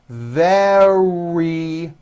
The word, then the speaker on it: very: from the West was very wet remember very starts with a V sound followed by a strong R was very wet very